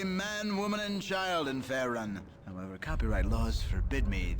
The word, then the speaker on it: Faerun: I've been pronouncing it Faerun. You know, it's Faerun, apparently.